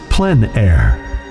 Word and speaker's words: plein air: open air or outdoors the French pronounced it plan air others say plein air no matter how you